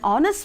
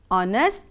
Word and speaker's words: honest: example an r an honest man an honorable person here h is silent in all these words for example are honest and honorable we don't